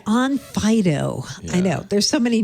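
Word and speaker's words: Onfido: and identity verification definitely the pronunciation okay like a doggy yeah on Fido I know there's so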